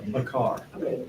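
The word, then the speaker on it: בקר: Does that mean a long A sound for both those? Yes, Bay. bakar. Bakar. Bakar. Ba is a short sound, isn't it? Ba, Bay, it's not bay, no?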